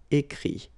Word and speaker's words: écrit: But then phonetically it's I as well, because you don't pronounce the final T, okay? Écrire, écrit.